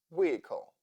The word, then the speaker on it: vehicle: sounds CH Furniture veicle H in this word is silent so we don't read it and don't pronounce it vehicle tension s i o